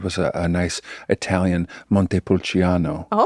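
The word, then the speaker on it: Montepulciano: So, one of the naked wines that we opened was a a nice Italian Monte Pulchiano. Oh, I love that pronunciation.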